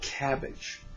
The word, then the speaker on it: CABG: words open-heart surgery now the doctors call it cabbage but I choose to spell